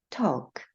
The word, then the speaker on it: talk: 세일 이렇게 발음이 했습니다 세 번째는 Al 다음에 k가 오거나 Al 다음에 F Al 다음에 m이 오는 경우에 이때 엘 발음이 나지 않아요 그래서 걷다 work 말하다 talk 절반 have 송아지 cap